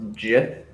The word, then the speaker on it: Gith: Nick, I'm pretty sure it's pronounced Jith. Jith.